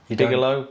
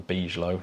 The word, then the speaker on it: Bigelow: No, Bigalow. Bigalow expandable activity module. I'm gonna go with Bigalow from now on rather than be low.